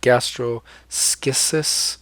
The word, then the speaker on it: gastroschisis: a pronunciation guide but gastro schizos that's how you pronounce that and this one has